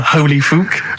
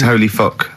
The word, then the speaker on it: Holy Fuck: Please, can we have more Holy Fook? You're not pronouncing it right, Steve. I know. I was just a bit edgy there. It's Holy Fuck, the little Chinese fella.